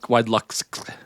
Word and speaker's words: WideluxX: Do you pronounce two X's, or is it just WideluxX? WideluxX.